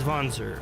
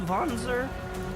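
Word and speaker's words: Wanzer: So, we should be able to collect his mech or his Vonser. I'm sorry. I I keep messing that up. And again, I'm pretty sure it's pronounced Vonzer, but if I'm wrong, I let me know cuz I I'm new.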